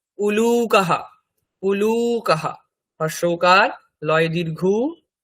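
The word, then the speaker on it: উলূকঃ: গৃদ্রহ vulture তারপরে আউল প্যাচা তার সংস্কৃত কি উলুকাহা উলুকাহা হসকার লয় দীর্ঘ ক বিসর্গ উলুকাহা মানে প্যাচা তারপরে হেরিকেন ল্যাম্প গ্রামের দিকে যেখানে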